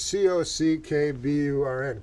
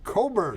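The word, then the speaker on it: Cockburn: his last name was c-o-c-k-b-u-r-n cock-burn all right but he said coburn yeah bruce coburn he said the c and k were silent the least silent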